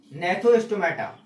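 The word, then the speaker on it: Gnathostomata: हम बोलते हैं जॉ नेथोस्टोमेटा, जी यहां साइलेंट होता है, नेथो एस्टोमाटा, ठीक है, जिनमें जॉ प्रेजेंट है, और जिनमें जॉ एब्सेंट है वो हो गए एग्नेथो एस्टोमेटा, नेथो एस्टोमेटा, ओके।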